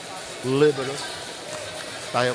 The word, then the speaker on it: libero: You have to pronounce it Italian. Libero libero.